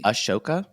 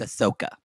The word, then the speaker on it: Ahsoka: Ashoka? No, it's Ahsoka.